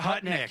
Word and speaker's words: Hutnick: Hut Truck, I think. I hope that's right. If it's not 408, though. The French girl came up and gave us the right pronunciation. Right. Yeah, Hutnick.